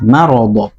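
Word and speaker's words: مرض: e ini juga ee ada kesalahan sebagian imam yaitu mengucapkannya mard mard faadahumullahu mardah ini ee apa yang sangat sangat sangat merusak makna ya. Mirip sama mirip sama sukun ya. Iya. Padahal itu fathah. Marad.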